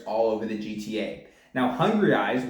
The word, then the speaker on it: Hungrieyes: Now, Hungrieyes, which is spelled Hungrieyes, like hungry eyes.